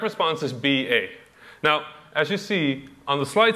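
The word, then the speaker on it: باء: And it's pronounced like a shorter version of the English letter B.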